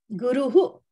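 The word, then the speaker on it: गुरुः: Yeah, but you have to say guru properly. This is Sanskrit. What do you say? Yatra? Teacher, yeah. Yep. You said it right, but need that accuracy. Yatra guru. For teacher. Guru. Guru who? Guru who? Whenever we say teacher, we have to say guru who. That visarga should come.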